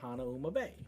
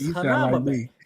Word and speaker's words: Hanauma Bay: And I'm like, well, "My dad always called it Hanauma Bay, and it's Hanama Bay." Right? Yeah. So I'm like, I better give us the right way to say it.